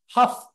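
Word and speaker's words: Hough: and one in Cleveland's Huff neighborhood in 1966 Huff is like tough but spelled with an H one of the most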